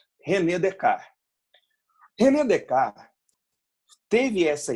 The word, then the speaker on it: Descartes: é em português falando a pronúncia correta relé de cá reunião de cá teve